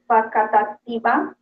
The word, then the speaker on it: Facatativá: So, Adriana, let me pronounce because it's so difficult for me. Facatativa.